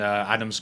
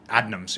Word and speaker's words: Adnams: in the UK, and Adams came over to visit Six Point as well. Going over to Adams is fantastic. Adams or Adnams? Adnams, A-D.